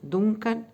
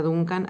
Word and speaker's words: Duncan: para hoy que es isadora dunc o danc sería la pronunciación más más cercana al inglés digamos voy a decir dunc yadora Duncan así la llamamos acá